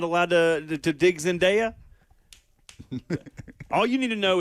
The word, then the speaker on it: Zendejas: absolutely call for Gio Reyna to bring in Zendejas, but the US is having trouble finding those spaces in the attack, you know. What What name was he supposed to pronounce? It's Alejandro Zendejas, okay?